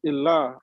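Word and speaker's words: إله: Ilah is how you say God in Arabic.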